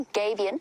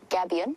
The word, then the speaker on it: gabion: The reason that this is there, it's known as a gabion or gabion, depending on your pronunciation, and it is deliberate human intervention in order to reduce the erosion of an area.